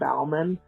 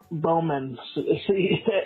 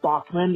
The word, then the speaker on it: Baughman: You pronounce your last name Baughman, but it's pronounced the same way as Bowman. And some of my family pronounces it Bachman, even though it's spelled the exact same way.